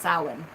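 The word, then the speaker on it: Samhain: spelled sa mhm a I end but it's pronounced sullen and that's you know a witch's holiday my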